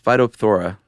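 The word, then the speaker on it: Phytophthora: It's phytothora.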